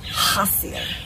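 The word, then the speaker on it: חזיר: to be it's spelled like chazier but it's pronounced hacio and from right to left it is chet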